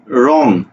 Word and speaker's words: রং: লিখবো যেমন দেখো বলছি রং এই রং শব্দের উচ্চারণ কি হবে র অনুসার উসন্ত রং কেন কারণ আমরা বলেছিলাম যে